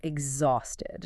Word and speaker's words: exhausted: The h is silent and the x takes on a voiced g and z sound.